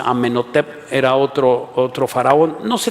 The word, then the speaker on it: Amenhotep: Algunos otros dicen que era Amenhotep, así se pronuncia, Amenhotep, era otro faraón.